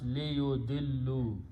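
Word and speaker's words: لِيُضِلُّوا: So it becomes liyudillu. And alif is written, which is not recited.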